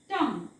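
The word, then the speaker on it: tongue: काहीही उच्चार येत नाही तसंच इथे बघा ट टंग हा शब्द असतो टंग ओके सो या पद्धतीने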